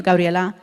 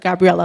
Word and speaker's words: Gabriela: the accent, and like my middle name is Gabriela, like that's exactly how you say it. Don't tell me to say like Gabriela, like that's just not how you pronounce it.